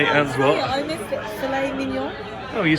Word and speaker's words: filet mignon: Filet mignon.